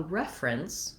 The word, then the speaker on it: reference: when i make a reference to something the noun we have first syllable stress and my letter e